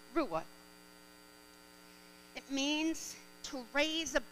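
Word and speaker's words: רוע: noise instead of shout the hebrew word translated shout for joy is rua it is spelt r-u-w-a pronounced rua it means to raise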